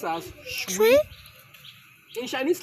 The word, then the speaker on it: 水: Water in Mandarin is pronounced as shui.